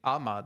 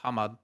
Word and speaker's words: Hammad: it wrong aren't you you're saying Ahmad not hammad hammad I'm not I'm not